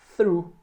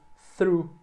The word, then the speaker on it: through: Through. É só o som desse TH mais o R e o U. Through.